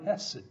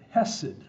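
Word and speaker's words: chesed: This is the word hesed. Sometimes you'll see it spelled in English as C-H. E-S-E-D, the C is silent. But hesed, this is a word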